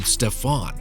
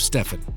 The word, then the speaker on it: Stephen: First, he mispronounced Curry's name, calling him Stefan instead of Stephen.